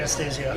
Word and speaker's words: Anastasio: How do you pronounce his last Trey name? Anastasio.